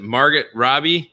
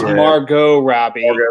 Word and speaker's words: Margot Robbie: What is it, Margaret Robbie? Yeah, Margaret Robbie. She was the. It's Margot Robbie.